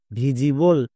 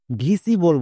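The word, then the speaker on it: visible: হবে যেমন ভি আই এস Vij plus able ভিজিবল একে অনেকে ভুল করে ভিসিবল বলে বাট ভিসিবল উচ্চারণ করা চলবে না এর উচ্চারণ হবে ভিজিবল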